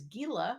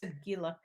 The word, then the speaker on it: Gila: with a Gila monster Gila I'll wait I'll wait for the commenters I know the river is pronounced Gila but I don't know that